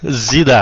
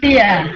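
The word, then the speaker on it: Szia: Zida, huh? No, Zia.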